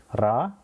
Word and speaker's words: リ: ரா, ரீ, ரு, ரே மற்றும் ரோ.